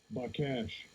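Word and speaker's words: בקש: By cash. By cash. Oh, that's how it's pronounced.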